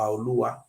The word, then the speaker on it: Olua: Here states a Radeva book stated very clear that the original pronunciation is Oba Olua, and even put the meaning here.